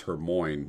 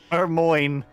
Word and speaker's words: Hermione: just like uh and harry potter it was her moin the entire time i wrote it as a kid hermione i couldn't i don't know yeah and i